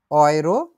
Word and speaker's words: Euro: আমরা তারপরে আবার দেখছি হচ্ছে গেল দেখলাম, অয়রো যেটা হচ্ছে ইউরো, টাকার পরিমাণ যেটা বলে বাংলাদেশে